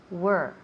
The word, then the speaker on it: were: Pero no queremos where, queremos were. Hay que cerrar un poco más los labios, así. Were.